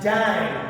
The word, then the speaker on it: dyne: Scientist के नाम पे नहीं रखे बल्कि एक नया वर्ड लिया गया, डैन, DYNE, डैन, ये यूनिट रखा गया। उसका सिंबल नहीं है, उसको आपको पूरी स्पेलिंग में लिखना पड़ेगा।